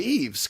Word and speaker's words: Yves: Now, how many times did you have to tell people the S is silent? How do I assume that S is silent? Are you named after anybody or? Yves Montand.